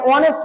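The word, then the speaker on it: honest: ধরি হি ইজ এ অনেস্ট ম্যান এইযে এই আছে এইচ এর উচ্চারণ হওয়ার কথা ছিল হ কিন্তু হ এর উচ্চারণ নেই কখন এরকম উচ্চারণ হয়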